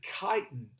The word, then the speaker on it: chitin: here at the bottom everybody wants to pronounce that that ch with a cha that's actually chitin that's another structural component